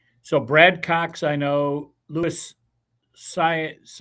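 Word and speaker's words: Luis Saez: So Brad Cox I know Lewis Saiz I believe is how you pronounce it. Louis Sez I'm familiar with him.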